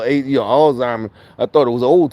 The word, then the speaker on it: Alzheimer's: I thought it was old timers. With an OL, not AL, Alzheimer's.